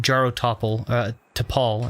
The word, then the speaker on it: Jaro Tapal: Jaro Tapal is how you say that, rather.